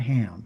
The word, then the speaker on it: Ham: So we have Shem, we have Ham, and we have Yafet. In English, they call him Ham, but that is not his name. His name is not Ham. His name is Ham.